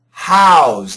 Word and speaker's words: house: Now remember, this is a verb. So, the pronunciation is a Z as a noun. It's an S as a verb. It's a Z. House. House. The Z's got lots of vibration.